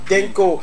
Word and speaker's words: Dhinko: Lui c'est l'artiste du jour, il s'appelle tout simplement Denko. Ça s'écrit D-H-I-N-K-O.